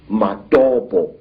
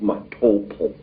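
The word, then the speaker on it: Matobo: place called the mountains of the round rocks madobo wrongly pronounced matopo in in zimbabwe these hills are really not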